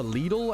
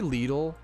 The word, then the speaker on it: Lidl: I say lidle. How to say lidle? It seems like lidle is but this is maybe it's like maybe it's a European verse American thing. Google AI says that lidle is right but that's it could be a regional thing it's so many word